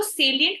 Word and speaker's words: salient: अब जिस तरह से इसको हम बोलते हैं, देखो तो स्पेलिंग इज salient, इसको ना साइलेंट से कंफ्यूज मत करना।